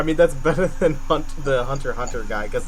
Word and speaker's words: Hunter x Hunter: Did you see, like, there were chapters of is it Hunter x Hunter, or is it Hunter? It's Hunter x Hunter.